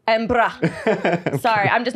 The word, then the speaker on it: Edinburgh: He came to Edinburgh and we were there. That's not how you say it. Edinburgh.